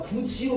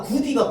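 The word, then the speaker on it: 굳이: 구디라고 할 때 얘가 구지로 변하잖아. 내가 구디가 구지로 발음되는 게 왜 더 편하다고 했어? 기억나는 사람? 기억나는 사람? 그 방법이 뭐랑 뭐가 좋은 방법이 비슷한데 그러면? 구디, 구지. 구디보다 구지가 발음하기 더 편해요.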